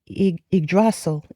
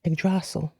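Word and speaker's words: Yggdrasil: Um, you have uh let's see if I could pronounce this correctly. Okay, Idrasil. Idrasil.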